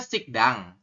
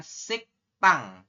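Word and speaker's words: 식당: berbeda ya oke ya ini tulisannya sikdang tapi nanti anda membacanya adalah sik tang ini dibacanya siktang ya teman-teman kalau Latinnya berarti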